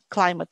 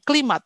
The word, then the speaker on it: climate: Words ya Eh tidak tidak boleh salah climate change ya climate Bukan klimat Ya bukan climate change ya climate change